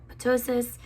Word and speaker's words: ptosis: I thought I had ptosis, it's the P is silent, which I was really